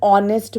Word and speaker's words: honest: And now I have added one by myself, an honest man. Here, see carefully. The word is starting with H, but H is silent and giving us the sound of awe, nest, awe.